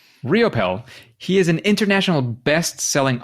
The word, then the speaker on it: Riopel: only because you said so so Robert Raymond ropel riopel how do you pronounce that one you got it on the second one riopel riopel he is an international bestselling author app designer